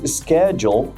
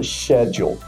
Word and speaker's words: schedule: Mas schedule é pronunciado no amplamente nos Estados Unidos dessa forma. Já na Inglaterra, a palavra é escrita da mesma forma, mas ela é pronunciada schedule.